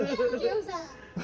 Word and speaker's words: gyoza: Gyoza.